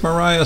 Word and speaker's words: Maria: after all these years and I found lake Moriah State Park in Minnesota that's how it's pronounced it's about an hour away from the